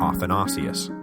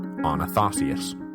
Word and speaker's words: Athanasius: listener Anthony caught me accidentally reversing syllables in episode 137 so the polarizing Deacon who later became the polarizing Bishop of Alexandria should have been athanasius not onius sorry about that the